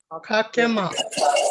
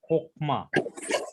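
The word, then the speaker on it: חכמה: Kakema. Ma. Kakema. No, actually it is a kokma.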